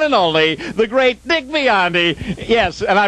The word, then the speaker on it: Biondi: And now, ladies and gentlemen, the one and only, the great Dick Biondi. Yes, and I pronounced his name correctly, didn't I?